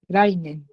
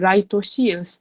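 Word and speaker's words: 来年: Rainen. So this one you have to be careful. Rainen. So it's not rai toshi, it's rainen. So, Oi.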